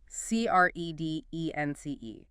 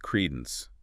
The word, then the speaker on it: credence: C-R-E-D-E-N-C-E. Stress. Credence. Stress on the first syllable. 2 syllables. Credence.